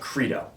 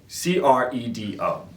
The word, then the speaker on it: Credo: And it's pronounced Credo, okay? C-R-E-D-O, all right? It's not Credo. There's no asterisk over the E where it's like an A.